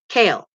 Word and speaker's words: Cahill: If you want to do the Cahill part, you say it kale. You know, like the vegetable.